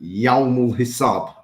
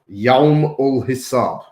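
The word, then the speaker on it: يوم الحساب: it on my tweet, Yawm ul Hisab. That's how you say it in Arabic. Yeah. Huh? Yawm ul Hisab.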